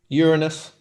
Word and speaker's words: Uranus: So we have Jupiter, Mars, Uranus, and Neptune. I like the way you stayed quiet on that. Uranus is the correct way to say it.